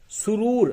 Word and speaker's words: سرور: تو چلیے، سرور، سب سے پہلے سرور. سرور کے معنی خوشی. ہجے یوں ہوگا، سین پہ سو، رے واو پیش رو، رے ساکن، سرور.